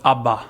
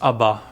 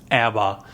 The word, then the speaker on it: ABBA: So in Sweden we call it ABBA. That's the name, how we pronounce this, ABBA, versus in the rest of the world is ABBA.